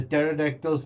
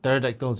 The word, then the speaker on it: pterodactyls: these what pterodactyls you say? Pterodactyls. Pterodactyls, whichever. The P is silent.